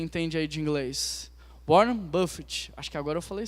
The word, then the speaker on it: Buffett: Warren Buffy. Buffett, como que fala? Como que pronuncia quem entende aí de inglês? Warren Buffett.